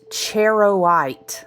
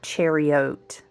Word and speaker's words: charoite: The the the word is pronounced cherowite. I love a good phonetic spelling. Like, really break it down like I'm in first grade. I need that. Okay. Cherowite. It is not chariot.